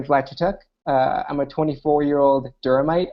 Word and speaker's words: Vlad Chituc: my name's you came very close pronouncing my name correctly that's rare so thank you for that uh my name is black chuk uh I'm a 24-year-old durite I live in